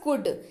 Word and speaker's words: could: अगला शब्द है हमारे पास कुड, COULD पढ़ते हैं इसको कुड, क्योंकि एल जो है वो साइलेंट रहता है जब आप इसका उच्चारण करते हैं।